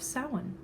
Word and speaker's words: Samhain: The woman called this harvest and time of year the Feast of Samhain. Smiling, she said the strange word, so it seemed to rhyme with plowing.